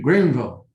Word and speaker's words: Greenville: And Eric Simmons, the mayor of Greenville, Mississippi. Did I say that right, Eric? I've known you for 10 years and I've been trying to say Greenville different like you do, Greenville.